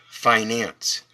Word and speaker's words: finance: uh a suffix and the root word is fine that's why it's pronounced Finance so we we're going